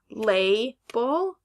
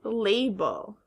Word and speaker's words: label: the two syllables so is this word lay bull or lab oh very good it is label next word is it